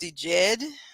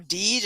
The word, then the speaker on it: DJED: I think that is pronounced DJED or Deej. I'm not really sure if the J is silent, but it's DJED.